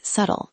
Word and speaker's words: subtle: A subtle change is a tiny change that most people would miss. Subtle is a tricky word because the 'b' is silent. You say 'suttle', not 'sub-tle'.